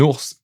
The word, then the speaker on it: ours: Okay, un ours. Here we do pronounce it.